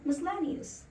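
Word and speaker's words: miscellaneous: मैंने आपसे इस शब्द को लोगों को मिस प्रोनाउंस करते हुए मी मस्लेनस ना की मिसेज है ना मिसेज नहीं है मिसलेनियस उस moving on D next world और वो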